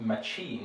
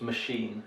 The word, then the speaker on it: machine: You may think mechanics and machine look very similar, but this one has come in from French, so it's not machine, it's machine. It's a sh sound, right?